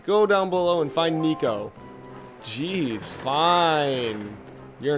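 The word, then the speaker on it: Niko: I can't say Nico properly. I keep saying Niku. That's not how you pronounce that.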